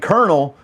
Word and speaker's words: colonel: But tell me why baloney, you can't hear the G, and colonel doesn't even sound like it's spelled like colonel.